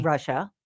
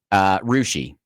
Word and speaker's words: Russia: There's a town in Ohio that's spelled Russia, which would be Russia. Right? No. Rushi is how the town folk say it.